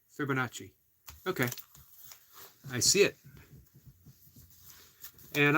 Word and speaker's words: Fibonacci: mispronounce flow says people you trust scer says pronounced Fibonacci Fibonacci okay I see it and I'm going to